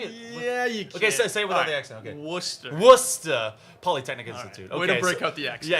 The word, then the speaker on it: Worcester: but that you can't say it yeah okay Worcester Worcester Polytechnic Institute yeah it's it's really it's